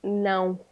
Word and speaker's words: não: But no means no, not no cinema, not in the cinema. No. That is não.